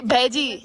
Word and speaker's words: bheji: Bhai, bheji, Bheji. bheji. Parnam bheji. Okay, Parnam so bheji. now in Uttarakhand you will not say bhai, you say bheji. I say bheji.